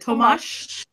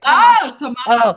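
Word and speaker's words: Tomáš: Tomasz? It's got a smooch to the end of it. Tomasz.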